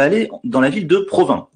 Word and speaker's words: Provins: dans la ville de provins alors huysmans a probablement choisi ce nom parce que on peut le prononcer province ont qui sont en